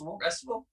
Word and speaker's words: Restival: Restival. Yeah, Yeah. like festival, but with rest.